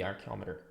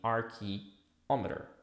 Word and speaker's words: archeometer: So in French it would be slightly different the pronunciation but it we have the arc which is the primordial not archo from archaeology that's another thing that is like old or antique no we are talking